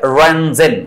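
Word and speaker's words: Röntgen: এটা হচ্ছে রঞ্জেন, বানানটা কি? RONTGEN, RONTGEN।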